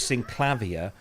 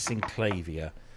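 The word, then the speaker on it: Synclavier: three now I always I always use sync clavia but he says synclavia um but some people say sinclavia but no there you go anyway it was fun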